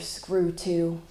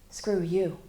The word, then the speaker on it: Skurtu: screw to looking that cop and the I dad said that's not how you pronounce it my name is mr. screw you in that one family town no one loses a name unlike mr.